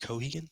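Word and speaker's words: Keoghan: in the Batman film um played by Barry Kohan was how you pronounced his last name uh we got a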